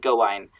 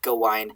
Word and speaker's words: Gawain: And we have Gawain, which I think I mistakenly pronounced Gawain. It is pronounced Gawain in a lot of French poetry, but I think when you're alliterated on it, it should be pronounced Gawain.